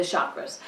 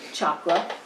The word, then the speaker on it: chakra: basic review of the chakras. Now in Sanskrit they're pronounced chakra, and in English, if you've learned meditation or energy healing or something like that, you've probably heard them as chakra.